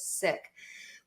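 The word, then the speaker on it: Sikh: ago I would have known that the correct pronunciation is sick but I wouldn't have been in a place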